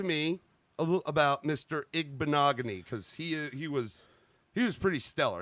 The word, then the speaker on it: Igbinoghene: This next guy is from Trussville, Alabama, a junior from Auburn University, Noah Igbinoghene. That's how you say it, folks. Noah Igbinoghene.